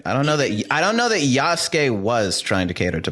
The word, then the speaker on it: Yasuke: Yakuse or Yasuke. Yasuke.